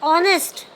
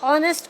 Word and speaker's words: honest: Sometimes H is also pronounced as a because honest. O. So H is not pronounced. Honest. O is pronouncing over there like a vowel. So honest officer.